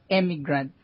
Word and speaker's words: emigrant: And emigrant. There's two words with different spellings. Immigrants. One is with emigrants. Emigrants. How do you pronounce it? Emigrant. Emigrant. An emigrant is someone who leaves.